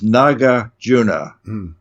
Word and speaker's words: Nagarjuna: And Nagarjuna, who was really named, I always mispronounce this, Nagarjuna. The Nagas were the sea creatures that were his friends, and his other name was really Arjuna. So he's known as Nagarjuna.